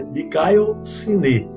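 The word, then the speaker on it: δικαιοσύνη: Essa palavra também é muito conhecida por causa da justificação, dikaiosine, né, que é transliterada como dikaiosune, mas a pronúncia é dikaiosine, ok?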